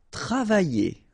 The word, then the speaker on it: travailler: Travailler. Okay, remember when you've got this E and then double L here and the vowel after Y, Y. Travailler. Travailler. Okay, travailler, travailler.